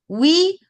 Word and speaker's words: ou: Oui ou non. So that's the ou. Okay. So the U on its own is a U. The OU together is the U.